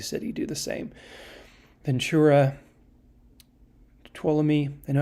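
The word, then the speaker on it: Tuolumne: see every big city do the same ventura tuolumi i know how to pronounce that now you proud of me tuala me um san bernardino so yeah there's a lot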